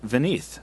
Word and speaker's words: Vineet: This last piece of listener mail is from Vineet, pronounced Vineeth, from India.